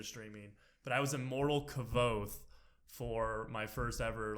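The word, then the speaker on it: Kvothe: like everybody didn't know how to pronounce kavod cuz its kv o th e and their Cavalli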